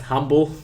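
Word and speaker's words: Humbelt: belt brand yeah so exam pronounced humble okay it's belt humble but it's humble I shared out to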